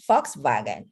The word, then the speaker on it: Volkswagen: Okay, so remember letter V is F, like it's pronounced as F, foul, and W is V. So VW, Volkswagen.